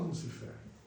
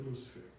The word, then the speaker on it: Lúcifer: As pessoas mais simples falam Lucifer, mas se escreve Lúcifer.